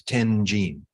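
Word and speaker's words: 天親: And Vasubandhu, his name in Chinese with the Japanese pronunciation is Tenjin.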